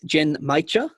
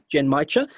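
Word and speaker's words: genmaicha: caveat here again is jen maicha so not mucha but g-e-n-m-a-i-c-h-a oh yeah right jen maicha um so japanese brian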